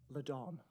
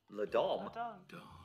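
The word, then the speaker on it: La'Don: Ladon. Ladom. Ladon. Add a G on that. It's spelled L-A-D apostrophe O-N.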